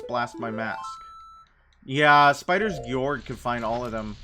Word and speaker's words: Georg: But I feel like most people just call him Spiders George. Spiders? Spiders. Spiders. Spiders. Hard G. So, Georg?